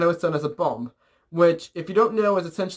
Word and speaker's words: bombe: and I remember what bombe translates to in French. Also, that's spelled B-O-M-B-E, so, because it's French, and they, don't like to pronounce the letters.